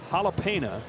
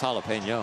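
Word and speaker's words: jalapeño: to ask my question is a jalapena same thing as a jalapeno oh that too did I say it wrong I maybe jalapeno jalapeno yeah yeah I would say it's jalapeno okay yeah or you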